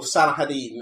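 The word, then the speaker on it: Salah ad-Din: Or Salahadin, as the Muslims pronounce it. Yeah. Fine. No, he's as good as Saladin.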